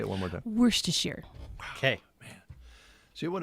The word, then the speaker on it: Worcestershire: So, she kind of leaves the R the first R out, even.